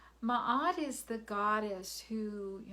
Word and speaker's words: Ma'at: is ma'at you know ma'at and her name is spelled m a apostrophe a t ma'at is the goddess who you know the newly